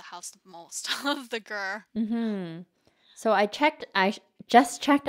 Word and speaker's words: ger: I thought it stood for something. I'm like, oh, GER stands for something. So it's actually GER.